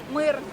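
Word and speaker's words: мир: Ça se prononce comment? Mouir. Comme la station Mire.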